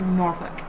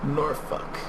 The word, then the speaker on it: Norfolk: the woods aha yeah norfolk i said it right that time didn't it close it should be spelled n-o-r-f-u-c-k it's pronounced norfolk norfolk uh and 64 seems